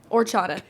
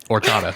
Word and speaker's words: horchata: Or chata. Perfect. Kind of rush through it. Horchata. Because when you say horchata, I promise you that's 10 times more white. Because you're not supposed to pronounce the H.